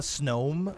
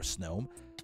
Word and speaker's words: Snom: It's a Is it called a Snome, maybe? Like a gnome in snow? A Snome? Because it's not spelled like that. It's spelled just Snom.